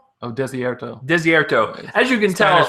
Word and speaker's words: Desierto: Next one, I don't know how to pronounce it. Deserto. Oh, Desierto.